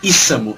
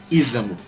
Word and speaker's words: Isamu: Era para ser Isamu e não Isamu.